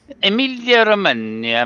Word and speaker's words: Emilia Romagna: Yeah, and so what's the actual pronunciation? Emilia Romagna. Emilia Romagna, made in Italy, Grand Prix 2021, race two.